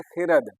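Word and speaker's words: خورد: हो लेकिन याद रखिएगा यह खुर्द नहीं होगा इसका उच्चारण करोगे आप लोग तलफ करोगे खद खद अगर आपको नहीं पढ़ने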